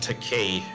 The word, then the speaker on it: Takei: It's Takei, you know, like toupee.